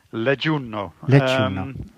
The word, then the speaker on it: Leggiuno: Jij zit nu in Leggiuno, hoe spreek je dat uit? Leggiuno.